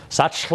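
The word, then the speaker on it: Sachtler: it means professional grade this is from a company called Sackler some people pronounce it satchel ah I don't know it is German but they've been around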